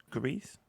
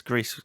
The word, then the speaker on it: Gris: of grisp it's called I think it's pronounced Greece or Greece uh Greece um just from the